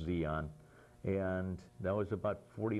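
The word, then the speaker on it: Di An: No, from Tonsonu, I wound up at Zion, which was spelled D-I-A-N, D-D-I, and then capital A-N, as I recall, pronounced Zion.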